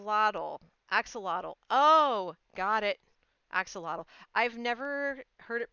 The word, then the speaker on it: axolotl: composter acts so model axolotl Oh got it axolotl I've never heard it pronounced so I just kind of took a